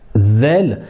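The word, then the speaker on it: ذال: Alors que la lettre « zel », zel, c'est comme si par exemple quand vous essayez de voir quelqu'un ou bien d'imiter quelqu'un qui a un cheveu sur la langue, quelqu'un qui veut prononcer la lettre Z et qu'il a un cheveu sur la langue, eh bien il dira zel, zel, zel, d'accord, la lettre zel,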